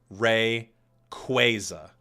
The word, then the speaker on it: Rayquaza: officials over at Pokemon that it is Rey quasa with a Quay like Quasar or earthquake that is what it